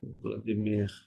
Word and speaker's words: Vladimir: ভ্লাদিমির না তো, এটা ফ্রেঞ্চে উচ্চারণ করতে হবে, ভ্লাদিমির, ফ্রেঞ্চ স্টাইলে বলে। Vladimir, ভ্লাদিমির, ওকে। Vladimir.